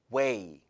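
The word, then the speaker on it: weigh: 써주는 게 더 좋습니다 그러다 발음은 gh 발음이 없어요 그래서 웨이 마이웨이 할 때 왜 이 랑 발음이 똑같아요 몸 무게가 나가다 너는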